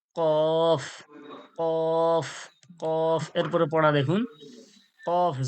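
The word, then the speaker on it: ق: সজাসজি তালু জিহব্বার গড়া ওর সজাসজি তালু থেকে উচ্চারণ হয় কি কফ কফ কফ এরপরে পড়া দেখুন কফ জবর কফ জের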